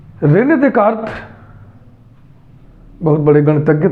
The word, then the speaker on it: Descartes: Renee देकार्त Hindi में उच्चारण करते हैं, इंग्लिश में इसको लिखते हैं रेने डेस्कार्टेस।